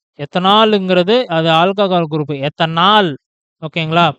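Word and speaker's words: ethanal: Pronounce பண்ணும்போது கரெக்டா பார்த்து பண்ணுங்க. எத்தனால்னு போட்டால் தான் ஏஎல்னு போடுவீங்க. எத்தனால்னு சொல்லிட்டு படிச்சீங்கன்னா ஓஎல் தான் மறதியில போடுவீங்க. ஸோ மார்க் உங்களுக்கு போயிடும். படிக்கும் போதே எத்தனால் ஆல் அப்படின்னு சொல்லிட்டு அழுத்தமா இந்த இடத்துல சொல்லுங்க. ஓகேங்களா?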